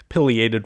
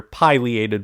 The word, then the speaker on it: Pileated: Now we can move on to our largest woodpecker, which is Pileated Woodpecker, or sometimes you'll hear Pileated Woodpecker. There's not really an agreed upon pronunciation of that, so it's just whatever your preference is.